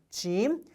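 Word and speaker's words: جيم: 짐. 자, 발음의 경우에 제 발음 하시면 됩니다. 그냥 짐이에요.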